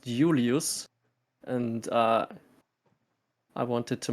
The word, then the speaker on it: Julius: the Latins did not the Romans did not have the letter J so it's pronounced Julius and uh I wanted